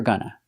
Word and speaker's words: gonna: Pronunciation of gonna, we use the short sound, like cup and up, for both syllables. Gonna, gonna.